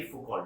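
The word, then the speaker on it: Foucault: सबसे पहले ये बात समझाई फुकॉल्ट ने। फुकॉल्ट, FAUCAULT, फुकॉल्ट। T साइलेंट, ट नहीं बोलते पीछे।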